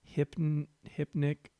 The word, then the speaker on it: hypnic: hour we're chilling okay hip nick hip don't add an extra syllable in there blair you're better than that i mean i'm not better than that but hypn hypnic jerk boom that's a